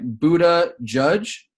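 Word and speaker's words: Buttigieg: for the record though his name is pronounced like Buddha judge or Budd edge edge so Buddha judge you know I'm saying very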